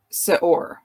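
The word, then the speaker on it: שְׂאֹר: is Strong's number 7603 Sor I guess would be an approximation of How It's pronounced and this word it's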